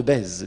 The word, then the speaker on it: Bèze: hop, il y a un certain Théodore de Bèze. Bèze, ça s'écrit B-E-Z-E.